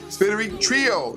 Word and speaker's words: SpiriTrio: Today, my very, very special guest is the amazing phenomenon group, SpiriTrio.